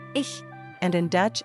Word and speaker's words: ich: mentioned earlier in fact in German I C H is still pronounced as ish and in Dutch it's